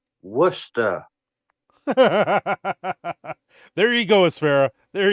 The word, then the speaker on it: Worcester: safe is this safe for YouTube it is pronounced Worcester there you go espera there you go oh